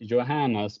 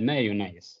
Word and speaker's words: Johannes: said my name wrong he was supposed to say Johannes but he said Mayon but when you say it in Swedish it sounds kind of similar said instead of say